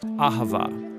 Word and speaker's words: Ahavah: It's pronounced Ahavah.